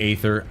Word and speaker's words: Aether: I'm still saying Aether I think it should be pronounced that way given its spelling a before E never sounded like e they just put the a there and it's like silent all of a sudden I don't agree I